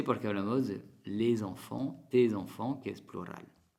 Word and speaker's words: enfant: Sigue la palabra enfant. Entonces, es el mismo sonido nasal, pero que se escribe de dos maneras diferentes. E-N, A-N, enfant.